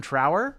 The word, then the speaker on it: Trower: oh interesting who Robin Trower is that yep Trower right that's how he pronounced that correct t r o w r do I know this